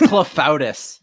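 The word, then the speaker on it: clafoutis: got a good moment sometimes spelled claw foodie uh-huh uh-huh oh it's clefautus it's clef bowtie all right let's watch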